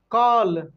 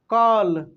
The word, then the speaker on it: कॉल: चलिए आगे लिखेंगे कॉल। क्या लिखेंगे? कॉल, कॉल। तो कॉल कैसे लिखेंगे? कॉल, काल नहीं, काल। देखिए काल लिखते तो ऐसे लिखते काल, और कॉल लिखते कॉल, तो ऐसे लिखते, लेकिन इसको हम लोग कैसे पढ़े?